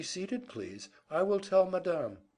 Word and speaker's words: Madame: I will tell Madame," putting the accent on the second syllable, where Peter had never heard it before.